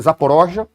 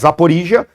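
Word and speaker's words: Zaporizhzhia: que os russos falam, eu tenho a impressão que a pronúncia russa é Zaporozhia, tá? Mas Zaporizhia.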